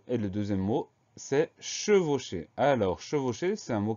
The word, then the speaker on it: chevauchée: deux mois ensemble le premier mot c'est le prononce e s e est le deuxième mot c'est chevauchée alors chevauché c'est un mot qu à trois